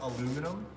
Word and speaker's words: aluminum: They are made of aluminum or aluminium, depending on how you want to pronounce it.